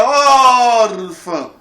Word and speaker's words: órfã: Na palavra órfã, eu digo, olha, órfã.